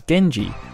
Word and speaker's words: Genji: As mentioned earlier, Benkei was part of the Minamoto clan, which can also be pronounced as Genji, with Gen representing Minamoto and Ji representing family.